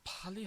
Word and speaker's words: 빨리: 이것들 더 빨리 하는 방법이 있어. So you need to pronounce, especially this word here, 빨리, needs to be pronounced with the twin sorry, because like it needs to be tensed, because I know it's